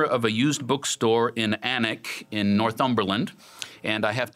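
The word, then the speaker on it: Alnwick: the way it's pronounced there's an L and a W in there somewhere but it's not pronounced so Anik in Northumberland he found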